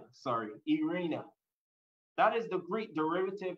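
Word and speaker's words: eirene: And that word peace is stated or is known as, and I'm going to try to pronounce it well, Irena. Irena, I spelled E-I-R-E-N-E. Irena.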